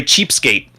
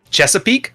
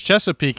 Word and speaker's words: Chesapeake: do you no they Cheapskate but it's not what it's called Chesapeake or just Chesapeake that's how you call it I'm not sure without